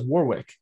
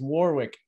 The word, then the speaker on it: Warwick: but but nick uh warwick davis was telling how to pronounce he's like it's warwick or it's work and they're like warwick he's like no drop the w they're like orwick he's like no not the first w actually that's maybe my problem